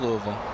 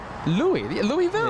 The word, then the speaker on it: Louisville: Love Louisville.